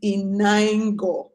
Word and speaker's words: Inaingo: since you use my government name let me pronounce it because some of you have been calling funny things my name is inoy my name means wealth has come and I've